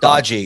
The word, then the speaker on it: Doge: Dodgy. It's pronounced dodgy.